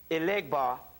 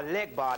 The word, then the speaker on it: Elegba: Because you got to put 4 pennies on each corner of a crossroad on Monday and ask Elegbar, or Legbar, that's Elegbar in Yoruba, Legbar in Vodun, and you ask them for financial lead.